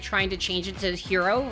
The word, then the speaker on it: gyro: to change it to hero, right? It's like, oh no, it's pronounced hero.